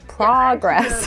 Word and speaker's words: progress: progress that's right Lucy In America we say progress we don't say progress the American pronunciation is progress with the short a sound like hot and stop progress let's hear that